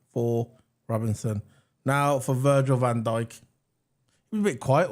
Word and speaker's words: Van Dijk: You know why I say it like Van Dijk? Because FIFA. Oh yeah, in FIFA. The commentator goes Van Dijk. So I'm going to say it like that.